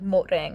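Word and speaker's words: หมดแรง: So like mot rang or mot is how you say that.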